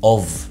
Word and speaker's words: of: what's the meaning of, ومش of, ها of, الاف هنا بتنطق v, of, what's the meaning of, ايه معنى كذا, بقى تحط الحاجة what's the meaning of كذا.